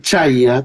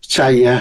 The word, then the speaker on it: Chaya: Puede ser Chaya, también en realidad en árabe es Shaya, ¿no? Es más Chaya que Chaya. Chaya es mejor, es esa Y, se pronuncia como si fuera una I normal.